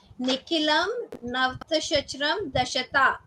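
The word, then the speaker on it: Nikhilam Navatashcaramam Dashatah: I pronouncing it correctly, ma'am? Correct, correct. It is Nikilam Navtashachram Dashata.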